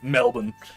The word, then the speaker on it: Melbourne: I know you don't pronounce the R really. Melbourne. I'm sure I'm not saying it perfectly, but I'm not saying Melbourne, so I think it's worth something.